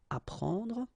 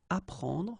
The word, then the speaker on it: apprendre: The first one, ap, so ap, you will get apprendre, apprendre. Okay, you don't pronounce the double p.